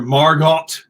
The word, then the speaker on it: Margot: be misremembering margot fontaine she called her margot no dear the t is silent as in harlow who said that margot